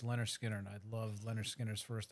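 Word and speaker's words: Lynyrd Skynyrd: to listen to um Leonard Skinner pronounced Leonard Skinner I'd love Leonard Skinner's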